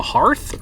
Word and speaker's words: hearth: The hearth or the hearth? Hearth. That's how you say it? Hearth? It's like Hearthstone. Like the fireplace?